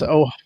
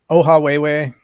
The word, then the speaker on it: Ohawhewhe: Emily, his channel, if you want to pronounce it again, I'll write it in the chat too. Yeah, it's Ohawhewhe, Ohawhewhe.